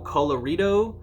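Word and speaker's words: Colorido: the starting at Studio colorito it's like Colorado but like the Ido um their Studio colorritos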